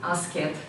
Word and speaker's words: asked: Do not say asked. Asked. Yeah, we do not pronounce ed.